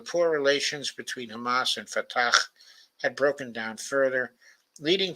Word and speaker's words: Fatah: influence of Yasser Arafat's Fatah uh, uh, organization. It's usually called Fatah, of course, but I think I know the proper pronunciation is Fatah.